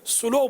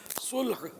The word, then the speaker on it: صلح: یہ ہمارے ہاں صلح کو سلو بولتے ہیں. سلو، واٹ از سلو؟ لام ساکن ہے، لام پر وہ جزم ہے، تو صلح ہاں پر بھی جزم ہے. صلح صحیح تلفظ ہے. صلح یہ عربی لفظ ہے. سلو یہ اس کا تلفظ نہیں ہے، اس سلو بولتے ہیں. سلو لام پہ لام کو پیش پڑھتے ہیں. جی یہ صحیح نہیں ہے، ہاں ساکن نہیں ہے.